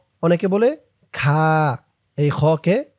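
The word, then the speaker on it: خ: আমার সাথে বলুন হা অনেকেই কোরআন রিডিং পড়ে এরপরেও হার উচ্চারণটা করতে পারেন না। তাই আজকে শিখে নিন। হা তারপরেরটা খ দেখুন এমন মাথার উপরে এক নুক্তা থাকলে সেটা হবে খ অনেকে বলে খা।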